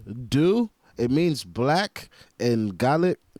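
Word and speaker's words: Dubh: say it's pronounced do it's not dub H it's not dub it's do just so you guys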